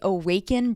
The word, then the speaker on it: Owaken: breath work group awaken it's not spelled the way you think it is it's spelled o w a k n the reason why I